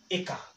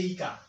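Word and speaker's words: ĩka: Don't come and say Ika. No. This is A, okay? Everywhere you see the word, you see this vowel I with a crooked line there, you'll be able to read that one as A, okay?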